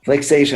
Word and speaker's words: Flixation: Did I pronounce that right? Flixation? Flixation.